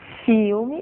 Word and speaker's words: film: Então vocês vão pegar palavras como, por exemplo, filme e vão pronunciá-las filme. Vão pegar uma palavra como falso e vão pronunciá-la falso. De forma que dizendo filme fica mais fácil de dizer film.